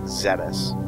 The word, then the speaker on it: Zebes: I am recording this after playing other M, so I know they're calling it Zebes, but Zebes is a terrible pronunciation, so I'm calling it Zeebs.